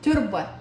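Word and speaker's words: تربة: التربه هي تاء مربوطه ليش لان من عند الوقف عليها تلفظها تربه تصير تربه زين هنا نقول يموت الورد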